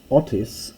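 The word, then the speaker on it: ὄττις: the hard breathing so this word here Otis is really for hostas the H has been turned into a soft breathing you'll see the same here with Ado for hairdo and Hoopa kui so don't think that there's some typo here it is actually a smooth breathing we'll see other things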